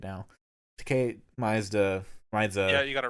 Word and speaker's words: Tkay Maidza: We have Tkay Maidza. I think I said it right now. Tkay Maidza.